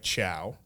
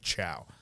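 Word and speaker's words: Chao: wrote my name is ciao pronounced like ciao there will be a distinction her her name is spelled c-h-a-o but she wants to make sure it's like pronounced like ciao like c-h-o-w um so she wrote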